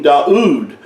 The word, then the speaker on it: Daud: He was called King Daud or Dude. It was the way his name was pronounced. And the U sound is the way this letter would have been pronounced.